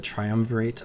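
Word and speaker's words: triumvirate: Tri triumverate oh no but they are the triumverate of the hand there we go that's how you pronounce it where these are just very very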